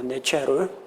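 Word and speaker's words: נצר: 네체르. 이 네체르라는 발음은 예수님께서 자라나신 고향 나사렛이라는 그 발음과 매우 흡사합니다.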